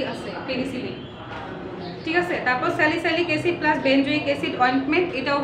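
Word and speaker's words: salicylic acid: আর 2 নম্বরটা হচ্ছে স্যালিসাইলিক অ্যাসিড, উচ্চারণটা বলে দিচ্ছি, স্যালিসাইলিক অ্যাসিড plus benzoic অ্যাসিড।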